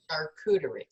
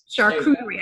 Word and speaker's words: charcuterie: Charcuterie. Charcuterie. I just have to remember the hard C on that, the end of that.